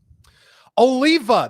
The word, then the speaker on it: Oliva: did I say it right yes I did Oliva this is from half whee where I get